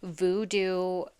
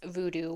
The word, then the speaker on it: Vodou: So upon my research, they spell it VODOU. I believe it's pronounced VooDoo, but it is said that